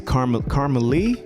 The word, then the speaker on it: Carmelie: Is it it's Carmelie? Did I say it right? Yes.